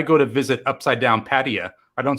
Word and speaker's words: Pattaya: Yes, I know the proper Thai way with the tones, Pattaya, but I like to say Pattaya, Pats, P-Town.